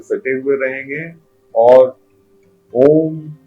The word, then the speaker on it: ओम: पहले औ अंत में जब म का जब उच्चारण करते हैं तो दोनों होठ आपस में स जाएंगे और अ जब बोलेंगे तो मुंह थोड़ा खुला हुआ रहेगा। उ में लिप्स गोल्ड जैसा हो जाएगा और म जब बोलेंगे